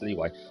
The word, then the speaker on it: Liyue: lieu we got there well sorry leeway I keep saying it's pronounced live with you it's not it's leeway um I can see